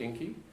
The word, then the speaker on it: INKE: We call it INKE, which people said also rhymed with stinky.